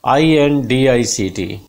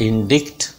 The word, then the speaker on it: indict: This is INDICT. What will you pronounce it? इज इट इंडिक्ट? नो, this word is indict. In da sound here.